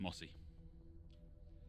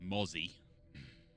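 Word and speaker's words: Mossie: Although he completely mispronounced Mossy. It's Mozzie.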